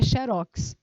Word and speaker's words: xerox: que não tem acento É porque a pronúncia dela é xerox ela é uma palavra oxítona se ela não tem